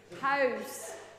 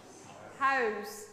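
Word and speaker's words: huis: is a bit tricky house house the o sound is quite tricky house okay so so the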